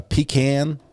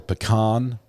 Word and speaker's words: pecan: It can be a pecan or it can be a pecan. But there's no agreement.